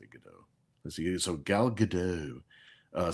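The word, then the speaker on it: Gadot: You know, I always like to pronounce her name GDAU. It does sound It sounds more fancy. Gdat sounds too staccato sounds too rough. I don't know, but I know it's pronounced Gdat. I still want to say GDO.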